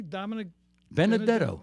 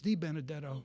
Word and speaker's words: Di Benedetto: Anthony Dominic Benedetto. Really? Yeah. Yes, I think it's Di Benedetto. Oh, I didn't know that. Yeah, there was an extra DI before the Benedetto.